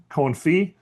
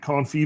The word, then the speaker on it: confit: So today's word of the day, confe uh use it wisely, appropriately. You can't confee vegetables. And the tea is silent.